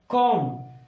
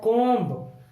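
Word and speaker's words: comb: अगला है कॉम। अगर हम इसे पूरा पढ़ते हैं तो ये बनता है कोम्ब, ये बनेगा कोम्ब, और जो कि गलत होता है।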